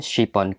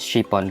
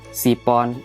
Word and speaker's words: chiffon: bikin yang namanya pandan chiffon cake ingat ya bunds pengucapannya harus pake sin-sin besar yang ada titiknya tiga jangan sampai ngucapinnya cuma biasa aja kaya Sipon apalagi Sipon pakai sound itu salah bun karena itu akan mempengaruhi